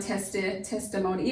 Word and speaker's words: testimony: And the I in the second syllable doesn't come through as a long vowel sound as you may expect if you've been doing the syllabary review. It comes through as a schwad sound, testimony, even almost a